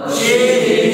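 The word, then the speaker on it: ش: নুক্তা তাহলে এটার নাম হচ্ছে সিন সিন সিন উচ্চারণ হবে scene scene scene scene scene scene এটার নাম শিন শিন শিন শিন শিন সিন সিন সিন সিন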